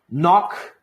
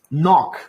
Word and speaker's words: knock: so yeah basically the if you see a KN the K is not pronounced we never say clock